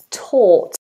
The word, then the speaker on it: taught: Taught. Asked, I taught a lesson yesterday. I taught earlier this morning. Taught, same vowel, or.